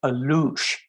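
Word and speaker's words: Alux: on it um it's it's called alouche and it's spelled a-l-u-x in the Mayan legend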